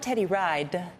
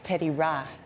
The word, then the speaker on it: Teddy Ride: Yeah, and it's not Teddy Ride, it's Teddy Ra. Teddy Ride. Because that's how you say it in Liberia.